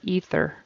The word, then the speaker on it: ether: ether ether she administered ether ether is some sort of gas and that th in the middle is pronounced with a soft sound tongue in the middle fth ether and he used a